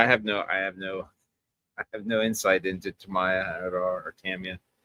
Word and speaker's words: Tamiya: Yeah, it's one of those weird things because, well, James would know, like, there's no emphasis on the syllables, so to speak, of Japanese last names.